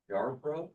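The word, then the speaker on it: Yarborough: Yar bro. A yar bro hand. Spell that.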